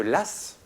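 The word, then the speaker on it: Law: la faillite de la banque de l'eau de l'ASS prononce ça s'écrit l'au comme la loi ça se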